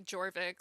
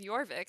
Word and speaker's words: Jorvik: think it's Elohim uh it took me forever to realize that it's pronounced with like a y sound for the J which makes so much